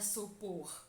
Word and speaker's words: supor: Turma, a sílaba tônica por é a última sílaba da palavra supor.